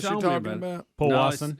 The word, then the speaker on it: Powassan: Yeah, it's Powassan. Powassan. Speedy, Powassan. remember on all pronunciations, just hand it off to somebody else.